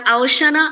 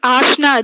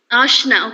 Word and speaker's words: Ashna: Hi, Am I pronouncing your name right? My name is Ashna. Ashna. Okay, because of the O, I had a doubt as to how it should be pronounced.